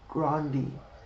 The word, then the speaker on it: Grande: did you know Ariana Grande herself does not pronounce her name that way how does she Branson grandi grandi grandi are you now